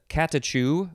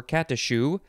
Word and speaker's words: catechu: say it's all related next is katachu or katashu uh this was uh yes okay c-a-t-e-c-h-u uh it is i think probably related to the next one which is catechumen uh but it might not be actually and that catechumen we saw in the previous uh the previous definition for where was it where uh catechist a teacher of catechumens but actually i think this catachu or cat issue is not related so it's a noun